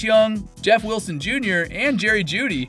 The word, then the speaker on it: Jeudy: Other Key Injuries Along with everyone mentioned in this video, players like Cooper Kupp, Chase Young, Jeff Wilson Jr., and Jerry Jeudy (pronounced Judy) are also dealing with preseason injuries that could impact their teams in 2023.